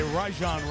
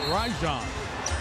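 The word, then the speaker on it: Rajon: And you may have heard Huie and I say Rajan Rondo. You've heard Rajan Rondo a lot, but the correct pronunciation we asked him last night is Rajan like Ry going to go the other way here.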